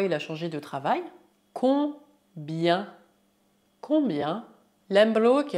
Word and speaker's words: combien: Combien? Combien? Lembro que a combinação I mais E mais N colocada no final de uma palavra se pronuncia yan e não yan. Portanto, dizemos combien, combien et non combien.